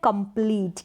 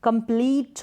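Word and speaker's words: complete: कंप्लीट तो यहां पर कंप्लीट करके इसको प्रोनाउंस ना करें लॉन्ग होगा रूल के अकॉर्डिंग कंप्लीट होगा ना की कंप्लेंट इनकंप्लीट में भी ऐसा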